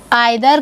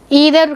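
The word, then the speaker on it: either: Otherwise what is द correct pronunciation, ईदर correct pronunciation, but मैं आप practice में जो आपके बोलचाल में आप लोग यूज़ करते हैं आइदर।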